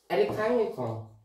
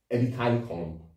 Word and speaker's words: Edikang Ikong: It's called Edikang Ikong. Edikang Ikong.